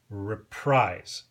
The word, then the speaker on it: Reprise: subsidiary by the way in Stan corin's book he insists that it should be pronounced reprise because Frank SRA started the label and wanted it to be like reprisal because he was trying to get back at Capital in Columbia his previous labels uh however I've heard